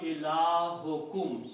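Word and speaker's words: إلهكم: So when you combine these two, you pronounce ilahukum, your God.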